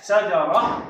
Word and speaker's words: شجرة: السكون تنطق هاء شجرة، وفي حالة الحركة تنطق تاء.